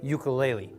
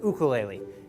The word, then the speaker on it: ukulele: activities and requested it most people know this thing as a ukulele but in Hawaii it's pronounced ukulele and the only thing